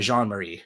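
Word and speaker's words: Jean-Mary: up his name again it's Brian Jean Marie right it's the French pronounce it right coming back to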